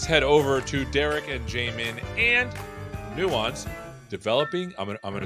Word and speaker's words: Jamin: don't you introduce yourself we'll start with you Jamin did I say it right you did and